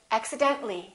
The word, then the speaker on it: accidentally: few more words accident when we add axi den ta li we don't pronounce the ah we say accidentally accidentally one more general when we add